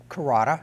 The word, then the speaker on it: Carota: I'm your host, Sam Chase, and this evening we have with us Carota, have I pronounced that correctly?